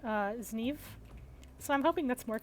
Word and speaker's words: Zniw: So I was pronouncing it as sniff last time because I thought that's how it was pronounced, but then I was informed that it's actually more like Zniw.